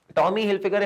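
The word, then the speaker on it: Tommy Hilfiger: trust जीता हुआ है कि टॉमी हिल फिगर टॉमी हिल फिगर इफ आई एम नॉट रंग उसको ऐसे ही प्रोनाउंस करते हैं टॉमी हिलफिगर की जो वॉचेस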